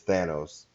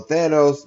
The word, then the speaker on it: Thanos: Here's Thanos. It's Thanos. And that's something I do here. I give you all the proper pronunciation. So Thanos basically wields the Infinity Gauntlet and destroys half the universe in the MCU.